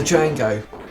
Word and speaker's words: Django: The Django. The D is silent.